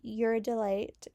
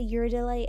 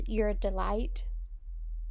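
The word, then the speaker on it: uridylate: I always want to say uridyllate as uridyllite, but I know that's not really how it's pronounced.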